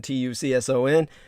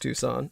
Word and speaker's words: Tucson: that would be spelled to saunas and tucson t-u-c-s-o-n uh though it's pronounced tucson it's spelled as if it were tucson put